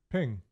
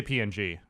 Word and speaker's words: PNG: Sprite um in the oh how do you pronounce that ping I always say PNG I don't really say it I would say